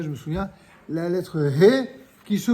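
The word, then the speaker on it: ה: français encore que euh dans la langue anglaise vous avez cette prononciation on a déjà dit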